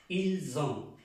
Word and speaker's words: ils ont: En este caso, tenemos que pronunciar la S como aquí, como una Z. Ils ont, ils ont, ils ont, elles ont.